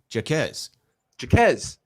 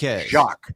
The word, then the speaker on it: Jaquez: Jaquez, not Jacques.